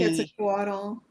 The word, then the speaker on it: Quetzalcoatl: I'm going to say it right, but like Quetzalcoatl. I'm not saying it right. Um, is that the Mayan or the Aztecs? Like The Quetzalcoatl.